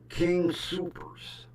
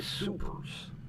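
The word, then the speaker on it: Soopers: King Supers cuz he said it spelled like S O P E R. Super.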